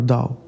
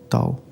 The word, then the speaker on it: Tao: who is a famous teacher on Taoism or Dao Tao however you want to pronounce it.